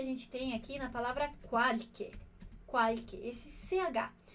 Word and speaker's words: qualche: E outro detalhe dessa frase é o som que a gente tem aqui na palavra qualche. Qualche, esse CH. CH em italiano vai ter esse som de QU ou de K, tá bem, né?